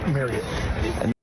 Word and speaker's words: Marriott: on this fan ambassador trip, it's Marriott.